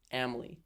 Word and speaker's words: Amily: Um I remember her name because Jordan always told me it's like family without the F. Amily.